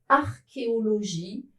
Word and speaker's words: archéologie: La majorité des mots qui sont des exceptions, qui s'écrivent C plus H mais ne se prononcent pas che, viennent du grec. Ils sont prononcés que.